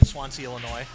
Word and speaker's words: Swansea: you're good go ahead I'm from Swansea swans and it's just how it's pronounced right s-w-a-n-s-e-a yeah but you know Swan C phonetically pardon me folks got